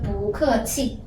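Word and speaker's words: 不客气: And you can see this symbol represent tongue 2, right? So 不 great. And this is for tongue 4 is 可 great. And this, remember what's this? Tongue 4. Yeah, tongue 4 is E. Great. So E for tongue 4 is E. 七 So we connect it together. 不客气 Okay, can you read it fast?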